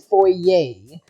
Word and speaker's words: foyer: for yay right for it looks like it'd be pronounced foyer but I've heard it be pronounced oye so he's standing is in his for yay waiting was the contract